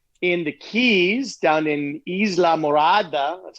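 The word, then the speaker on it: Islamorada: I visited a friend down in the Keys, down in Isla Morada. That's how you pronounce it.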